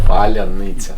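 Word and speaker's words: Паляниця: Okay, Patrick, you should say Palyanica. Palyanica. No. Palyanica. Palyanica. Palya. Pala. Palya. Pala. Palya. Palyanica. Nitsa. Okay.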